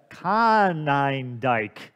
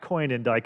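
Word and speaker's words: Konyndyk: book littering vices uh dr rebecca conningdike not coin and dyke as i've been saying it so i want to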